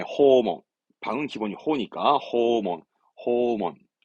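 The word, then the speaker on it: 訪問: 발음은 네, 호몬.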